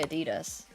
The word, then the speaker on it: Adidas: Adidas. Well, Adidas just sounds like a very German version of it. Like, I understand, but if you're not German, surely you can say Adidas.